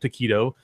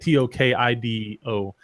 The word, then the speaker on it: Tokido: He lost to a guy named Taquito, not the food. Is that Mexican dude? No, he's Japanese. It's spelled fucking Tokido, racist. like Tokido, not like Taquito or however you spell it.